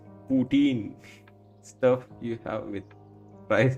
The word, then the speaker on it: poutine: Brits pronounce it putin. American says putin. Indian says poutine.